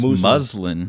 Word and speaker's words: muslin: else English class muslin I think it's muslin muslin muslin muslin not Muslim paper muslin paper from